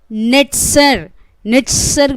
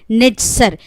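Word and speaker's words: נצר: इब्रानी भाषा में ब्रांच जो है वो नेट्सर बोला जाता है। इब्रानी भाषा में नेट्सर, NETZER। ये कैसा उन्होंने स्पेलिंग करते हैं उसे NZR कैपिटल में लिखते हैं, मतलब नाजरेत।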